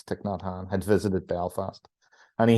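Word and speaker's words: Thích Nhất Hạnh: for U as his name but if you're pronouncing it in Vietnamese it's tikn notan had visited Belfast and he had visited West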